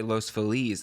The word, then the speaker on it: Los Feliz: Yeah, Yeah, that's like Feliz Navidad.